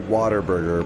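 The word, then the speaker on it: Whataburger: You say it water burger, but it's spelled what a burger.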